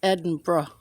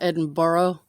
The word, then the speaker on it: Edinburgh: You know how people say bruh? It's Edinburgh. Edinburgh. Yeah. It's not Edinburgh, like a lot of people say. It's not how it's spelled. It's spelled bruh.